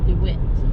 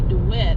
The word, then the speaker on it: Due West: do wit i guess there was some confusion is how it was supposed to be pronounced i guess originally it was do it it was supposed to be dewitt and nobody could pronounce to do it they kept thinking it was due west which doesn't really make sense to me because they don't sound a lot like at all so we're